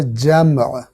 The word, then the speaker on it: جمع: تلفظ ہے وہ ہے جمع، میم ساکن ہے، لیکن اردو میں میم کو ساکن بولنے کی وجہ سے چونکہ تلفظ میں مشکل آتی ہے، اس لیے اکثر اس